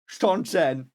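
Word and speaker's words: Seanchan: them in German, like Shonshana. That's what they pronounce them in German. And I was like, no, they're called Shonshan. And she just confirmed it. She just confirmed that they were pronounced Shonshan.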